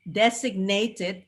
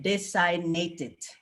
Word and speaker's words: designated: is very confusing because in for foreigner the g is silent and then in the designated it was silent but actually it was pronounced uh so foreigner not foreigner and designated instead of designated so that's one and